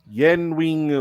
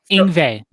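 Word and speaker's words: Yngwie: solo in it from Yenwing Malstein. I think that's how you say his name. Oh, Ingve.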